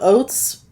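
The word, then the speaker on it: oaths: And the election ended, so Oates, am I saying it right? How do you spell it? That word, O-A-T-H-S. Oath. Oath. Like but I take an oath. Add a S. And it sounds like oats.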